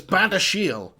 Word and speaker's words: Badiashile: So it's Badiashile.